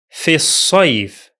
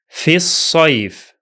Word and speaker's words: في الصيف: The hamza of al is silent because it's in connected speech, and the lam is also silent because it is a solar lam.